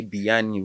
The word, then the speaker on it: Bayanni: So if we pronouncing Bayani, hopefully not. We're not it's calling fine. on Fine. Just any call me Bayani. deity. The Americans will say Biyani wherever, man.